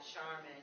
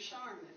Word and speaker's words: Sharmin: with them that, yes, my name is pronounced just as the commercial.